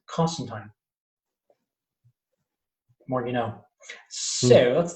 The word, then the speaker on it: Constantine: ever in that continent to call constantine properly and that pronunciation is constant time more you know so